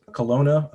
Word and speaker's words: Kelowna: out of forgive me if i if i pronounce this wrong but i guess kelowna bc yep that's it okay and uh and